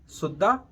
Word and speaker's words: सुद्दा: देखिए, पहला फ़र्क तो इसके प्रोनाउंसिएशन में है। उच्चारण इसका सुद्दा और सौदा।